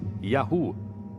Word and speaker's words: YHW: Segundo textos egípcios, um dos lugares onde viviam chamava-se YHW, que provavelmente pronunciava-se Yahu, o nome de seu deus patrono.